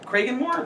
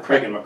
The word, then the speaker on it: Cragganmore: So the distillery was Cragganmore. Cragganmore.